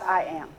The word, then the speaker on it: IAAM: international African-American Museum and our acronym is pronounced I am and so we stand